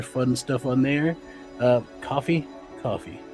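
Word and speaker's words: Ko-fi: Uh coffee. Coffee. It's coffee. It's pronounced coffee.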